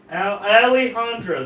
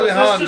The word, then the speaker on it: Alejandro: Alejandro. The J is pronounced like an H. Well, why didn't he put a damn H in it? That's Alejandro.